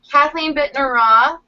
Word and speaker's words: Kathleen Bittner Roth: So today we have Kathleen Bittner Roth. I pronounced that right?